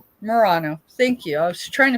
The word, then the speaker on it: Murano: It's unmarked merino. Murano. Thank you. I was trying to figure out how to pronounce it right.